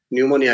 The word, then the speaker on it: pneumonia: is suffering from pneumonia pneumonia np is silent there we don't say uh p pneumonia so or mnemonic m